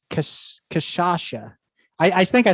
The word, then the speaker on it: Cachaça: It's Cachaça. I think I said it the same way that you corrected, but how do you say it again? It's Cachaça. Cachaça. Okay. And I even tried to phonetically do it, but you know what?